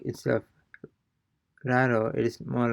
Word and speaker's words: raro: So it's more like, instead of raro, it is more like raro, raro, raro.